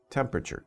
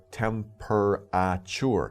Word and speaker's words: temperature: what we have here temperature temp don't pronounce it like that temperature I sometimes when you have a big word you can over pronounce the syllables like temperature but don't say temperature say temperature okay just for spelling